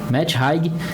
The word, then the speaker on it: Matt Haig: A gente buscou aqui a informação, o autor é Matt Haig, assim que se pronuncia, Matt Haig, A Biblioteca da Meia-Noite.